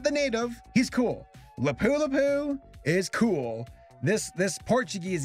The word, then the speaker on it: Lapu-Lapu: hey guys real fast I see the name lapu-lapu as lapu-lapu in this video and I just wanted to give a quick little correction I said it wrong I found out afterwards that it is said lapu-lapu just wanted to acknowledge